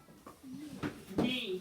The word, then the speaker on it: knee: Knee. What's the silent letter in knee, Chandler? The K.